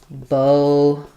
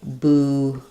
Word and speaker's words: bouquet: We can say bouquet. We can also say bouquet. Bouquet or bouquet. Both have first syllable stress. Just some people use the O vowel, some use the U.